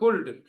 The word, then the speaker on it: cold: Cold. Cold बोला है? Good. L is silent.